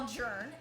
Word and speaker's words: Jern: And when you go to his chat, you have to yell Jern, J-E-R-N, because that's how we say his name.